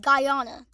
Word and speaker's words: Guyana: Colombia, Venezuela, Honduras, Guyana It's pronounced as Guyana.